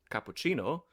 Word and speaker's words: cappuccino: So it's not a s, but a ch, that's a soft C. And English happens to get words from Italian, like, Hmm. say, cappuccino, that has the Italian soft C.